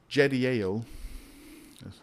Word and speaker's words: Jediel: The sons of Benjamin, Bela and Becher, And Jediel, I'm sorry, I think it's a, yeah, it's Jediel.